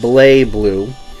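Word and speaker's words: BlazBlue: that was the first Blaze Blue, or Blay Blue. In Japan, it looks like they pronounce it Blay Blue.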